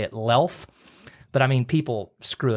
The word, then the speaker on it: Luelf: know it looks like Lou elf but the U is silent so you say it lelph but I mean people